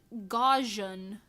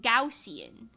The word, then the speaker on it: Gaussian: I always said goian I thought it was gajan like Gan but uh no internet says it's pronounced gaussian which just sounds so fake gausian gaussian huh